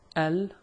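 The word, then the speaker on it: ال: the word which means the lunar L is not dropped in the word like on the other hand when we say which means a moon if we add L becomes the moon you pronounce it Al we did not drop the the lamb so Al Al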